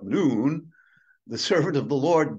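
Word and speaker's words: Nun: of noon I understanding as it's pronounced noon not none not known but noon the servant of the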